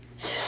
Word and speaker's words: 싫어: 얘는 어떻게 발음해? 싫어 싫어 이래? 싫어 싫어. 또 변태 같지? 얘 뭐야? 싫어 싫어. 니네 그래서 이렇게 쓰잖아 장난으로 막. 그치? 싫어 싫어 이런단 말이야. 얘는 뭐지? 히읗이 사라졌네? 탈락이네?